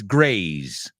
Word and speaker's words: graze: They are not homophones. Grace rhymes with face. Rhymes with mace. Mace es ese spray de pimienta. Grace rhymes with lace, encaje, a kind of fabric. And graze rhymes with ways, right? Graze also rhymes with stays.